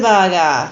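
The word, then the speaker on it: バーガー: bah gah yakiniku dice the baaga yeah that's that's how you say it that's that's the Japanese for it yeah but but yeah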